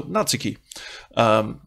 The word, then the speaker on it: Natsuki: realize wait a minute it's a Japanese name of course the emphasis has to be on the first syllable so Natsuki so I want to